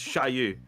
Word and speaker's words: Xiaoyu: No, XI is pronounced SH, so it's Xiaoyu.